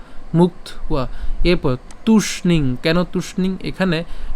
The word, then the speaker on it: মুক্ত্বা: এরপরে মুক্ত্বা, এখানে কেন মুক্ত্বা? কারণ এখানে কি আছে? অন্তস্তব আছে, তাহলে আমরা যেটা উচ্চারণ করব কয়ত পর্যন্ত উচ্চারণ করছি মুক্ত, এই যে মুক্ত। এরপরে অন্তস্তবের উচ্চারণটা সাথে আকার উচ্চারণ করছি ওয়া, তাহলে মুক্ত ওয়া, মুক্ত ওয়া।